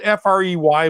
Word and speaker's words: Frey: I'm going to screw that up until hell freezes over because it's spelled F-R-E-Y, but it's pronounced Frey, and I apologize, Colby.